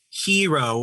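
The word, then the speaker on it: Heero: they do in japanese i is pronounced e it should be hero with one eye with the line on top for us or double i but we have double e in a more western way to create the western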